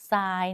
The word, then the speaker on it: ทราย: ไม่ แท้ เพราะ ว่า ไม่ ออก เสียง ทั้ง 2 ตัว เลย นะ คะ อ่าน ออก เสียง เป็น ซ โซ่ ค่ะ ต่อ มา คำ ว่า